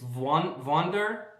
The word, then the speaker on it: Wander: It's Wander because It's a German name, so it says W as a V, so Wonder.